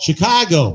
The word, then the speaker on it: Chicago: Chicago. Chicago. No, that's how you say it when you've lived there for a while. Chicago. Chicago.